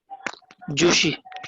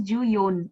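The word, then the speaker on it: 十四: At that time you have to use Ju Yon. Okay. okay, Certain pronunciations are written for certain words. So Ju Shi is not used. It is Ju Yon.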